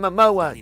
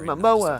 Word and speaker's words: Momoa: Jason Momoa. Jason Momoa.